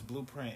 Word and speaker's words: BLUPRINT: The name is Blueprint. It's spelled BLUPRINT.